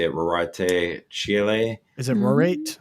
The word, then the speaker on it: Rorate: Is it Rorate? Rorate.